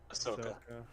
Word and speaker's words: Ahsoka: like they're also doing ahoka or however it's pronounced Ahsoka Ahsoka yeah they're doing Ahsoka